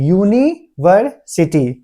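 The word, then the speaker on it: university: ठीक है, अब इसमें देखते हैं यूनिवर्सिटी, यूनिवर्सिटी। ठीक है, तो यू तो मेरा वॉयल है, लेकिन इसको हम लोग इग्नोर करते हैं। उच्चारण में देखते हैं यू, तो यह मेरा क्या है, व्यंजन है, इसलिए हम लोग इसके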